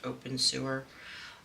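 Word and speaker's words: Obenseuer: u e r something like that but it's pronounced open sewer um and it's it's actually a really cool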